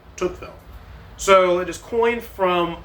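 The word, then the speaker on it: Tocqueville: So, um, so Toqueville is spelled T O C q U E V I L L E. Toukville.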